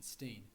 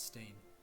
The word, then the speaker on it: Stein: use the English pronunciation steam as when two vowels are together in English the first one is pronounced to this day the family name remains pronounced as steam but is still written